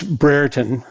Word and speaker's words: Brereton: It's Brereton. Brereton, like okay. Brereton, W-H-E-R-E. It rhymes with that.